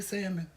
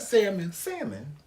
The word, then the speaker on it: salmon: And how do you say salmon? Huh? How do I say what? Salmon. But where's the L? Huh? Where's the L? It is there, salmon. No, it ain't. It is. Salmon.